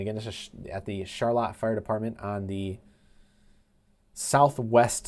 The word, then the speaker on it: Charlotte: It is pronounced Charlotte. It is not Charlotte. It is Charlotte.